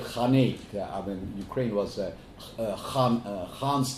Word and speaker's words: Khanate: And you pronounced it as Khanat, but we would call it Khanate.